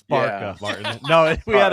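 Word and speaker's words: Barça: a bit of a preview, but also he pronounced Barca wrong. I believe it's pronounced Barca, correct? Yeah, that was uncomfortable for all of us. It's Barca, yeah.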